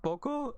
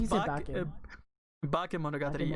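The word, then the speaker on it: Bakemonogatari: What did I call it? Boko, or did I say bake? Because I think I said it wrong. Well, it's bake Monogatari.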